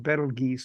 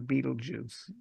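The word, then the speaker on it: Betelgeuse: By the way, it's pronounced Battle Geese, not Beetlejuice.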